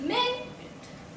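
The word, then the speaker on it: minute: There are to different प्रोनन्सिएशन। First प्रोनसिएशन प्रोनंसिएशन sorry is मिन इट।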